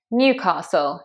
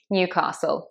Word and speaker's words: Newcastle: Newcastle, Newcastle, stressed on the new, Newcastle.